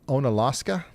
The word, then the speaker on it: Onalaska: Ona Onalaska. On Alaska, just north of Lacrosse. How do you guys say that on Alaska? Okay, cool.